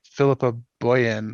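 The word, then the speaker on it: Philippa Boyens: interesting too because uh philippa boyen i think is how you say her name is actually producing this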